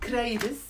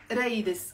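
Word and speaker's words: قريدس: He wrote kraides. Yes, it's written as kraides بالفصحى ق. Okay, but in Lebanon we don't pronounce the qaf. We don't pronounce the qaf. We say raides.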